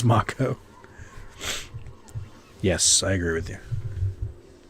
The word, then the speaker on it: Mako: invading this game also who's still pronouncing it Maiko instead of macho despite the game deciding firmly that it's pronounced macho Oh more ghosts cool